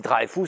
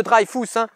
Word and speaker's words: Dreyfus: On dit Dreyfus, on se souvient. Le petit Usul, il fait de l'appropriation culturelle, on ne prononce pas l'alsacienne de Dreyfus.